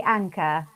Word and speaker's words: Anca: It's actually Anca, but don't worry, Anca. I've heard all sorts. I say it like Anca. I've made up a letter because it's a C, so it is Anca.